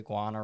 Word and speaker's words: Guana: like the tolomato and the how do you pronounce it the Guana River Guana it's Guana it's all yeah it's all yeah yeah so